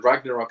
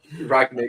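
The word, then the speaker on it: Rangnick: Sort of, I mean, Ragnarok is available. I don't even know how to pronounce his name. That's not right. Ragnik. And Ragnarok is obviously from Thor, but I keep saying it.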